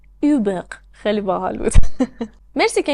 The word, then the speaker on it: Hubert: خیلی برای من هنوز تلفظ اسم هیوبرت توی فرانسوی جالبه. اوبق.